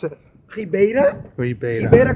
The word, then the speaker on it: Ribeira: pronounce it Rea Rea Rea comes like Reba okay Rea with press